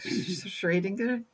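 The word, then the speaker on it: Schrödinger: name there could you schrodinger's it's pronounced yeah a lot of people pronounce it schrodinger and in german sometimes it comes out sounding more like schradinger that would be easier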